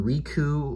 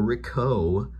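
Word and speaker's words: Ricou: don't know if i'll ever meet him mr riku or rico riku riku it's spelled r-i-c-o-u rico that's his name uh riku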